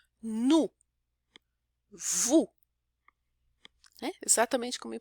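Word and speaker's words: nous: Nu também não é nus, a gente não pronuncia o S final, nem do nu e nem do vu. O S geralmente não é pronunciado no final, mas às vezes ele é, né? Mas geralmente não.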